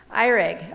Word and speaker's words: Erig: known you forever how do you say it irig okay i won't say that wrong again she's